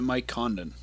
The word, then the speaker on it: Condon: It looks like they pronounce it Mike Condon. Yeah, as I said. It's a different pronunciation. Yeah. So they say it differently in the yeah, East. Yeah, it's the French pronunciation.